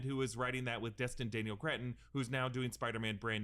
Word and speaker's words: Destin Daniel Cretton: Dustin Daniel Craig, that's how you say his name? Just trying to find his name, if he said his name. Yeah, no, Destin Daniel Cretton.